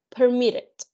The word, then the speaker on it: permitted: cuantos que dice permit, permitted. Permit, permitted. Commit, committed. And that's it. De 2 sílabas, pero que el mayor punto de voz, el mayor alce de voz va en la segunda sílaba.